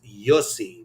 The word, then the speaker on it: Jussi: So Luna Project says Jussie, which I'm actually thinking is Yussi, because as you know, other countries pronounce certain letters differently.